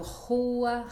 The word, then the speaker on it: rua: Então, rua, rio, e duplo no meio da palavra fica carroça, carro. Ou seja, é mais suave. É quase o H em inglês.